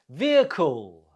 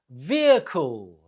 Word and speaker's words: vehicle: do you say it vehicle vehicle the stress is on the first syllable last one now number